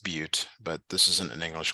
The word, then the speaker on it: Butte: find the distance from Ferris and this is pronounced Butte but this isn't an English class so you